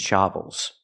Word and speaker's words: shovels: The word is pronounced shovels. So what's the difference? If I say shovel, that's the open ah sound, like hot and stop. I need the closed sound, like cup and up. It's more closed. Shovels. We hear the sound with the first word, buckets. Buckets. That's the same sound, the in buckets. Shovels. Both words have the same sound in the first syllable.